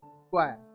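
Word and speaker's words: choir: क्वायर correct pronunciation है।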